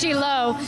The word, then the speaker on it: Shiloh: a boutique Winery here in Israel it's actually pronounced chilo there's over 250 Boutique wineries here let's hear about this one the Winer exist from 2005 it's in it's located in chilo inside the most of The Vineyards are belong